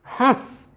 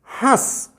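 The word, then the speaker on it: हँस: ये केवल मुख से हुआ, इसमें देखिए ध्यान से, हंस, हंस मुख से भी हुआ, नाक से भी हुआ, आवाज़ नाक से भी आई है, हंस, हस, हंस, हस, हंस।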